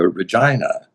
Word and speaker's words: Regina: And then I said, so that's American pronunciation would be Regina. Mhm. But Queen Victoria was known as Victoria Regina. So I think we maybe should call her Regina. And he said, okay, just make sure it's always Regina. So, Pronounce that R real hard. yes, hit that R.